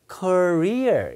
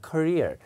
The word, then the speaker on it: career: 미국 사람들은 courier 이렇게 읽는데 경력 직업은 액센트가 뒤에 있습니다. 그러니까 career 이렇게 읽는 겁니다. career 이렇게요. 커리어가 아니라 career.